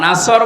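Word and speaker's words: نصر: নুন সোয়াদ র, নাসর মানে সাহায্য, আর নুন সিন র, নাসর মানে ঈগল পাখি। এই জন্য তেলাওয়াত যখন করবেন সোয়াদ উচ্চারণটা মুখ গোল করা লাগে।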